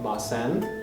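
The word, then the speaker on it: ます: things that you did why do we write it m-a-s-u and pronounce it like mas sometimes the sounds u and e in japanese words are not pronounced very strongly this is particularly common at the end of words and after unvoiced consonants like s we do it in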